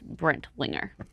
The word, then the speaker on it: Brentlinger: I believe the correct pronunciation of it is Brentlinger. Got you.